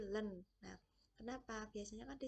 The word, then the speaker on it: ln: Ini bacanya adalah ln x ya, bukan in tapi len.